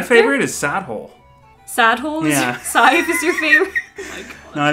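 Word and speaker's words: Sadhbh: How do you say it? Scythe. Scythe. Like S I V E.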